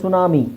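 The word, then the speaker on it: ಟ್ಸುನಾಮಿ: ಅನ್ನೋದಕ್ಕಿಂತ often is better next ಸುನಾಮಿ ಸುನಾಮಿಯಲ್ಲಿಟಿ silent ಆಗಿರುತ್ತೆ ಆಮೇಲೆ ನೋಡಿಎಸ್ಟಿಎಲ್ಎಸ್ಟಿಎಲ್ಇ ಕೊನೆಯಲ್ಲಿಎಸ್ಟಿಎಲ್ಇ ಬಂದರೆ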